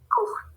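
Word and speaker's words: cours: Court. Court. Oui, ça va, court. Oui, c'est comme ça. Court. Aunque tengamos una TS ahí, no se pronuncia, ¿ok? C'est court.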